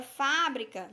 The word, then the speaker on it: fábrica: Já na palavra fábrica, nós temos aqui, ó, última, penúltima. É pronunciada com mais tonicidade.